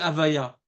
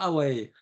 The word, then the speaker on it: Havaya: Quand il y a Yud Kevavke, ça s'appelle Avaya. Shem Avaya. Pas Hawaii. Avaya.